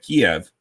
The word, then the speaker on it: Kyiv: I know why we stopped calling Kiev Kiev and called it Kyiv, because Kiev is the Russian pronunciation and Kyiv is the Ukrainian pronunciation.